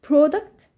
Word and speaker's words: product: الجمع منها منتجات طيب لو انت عايز تنطقها زي ما معظم الناس بينطقها باللهجه البريطانيه تنطق حرف الاو ب ب ب ب يبقى هنطق ب و او برودكت